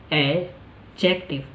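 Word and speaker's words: adjective: Third, यहाँ पे D silent है। अभी तक अगर आपने इसको एडजेक्टिव पढ़ा है, तो आज के बाद आप क्या पढ़ेंगे, इसको डी को हटाइए और बाकी वर्ड्स को प्रोनाउंस करने की कोशिश कीजिए।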